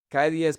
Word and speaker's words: calle: Because they were pronouncing the double L like the soft double L. In Medellin, we say "calle".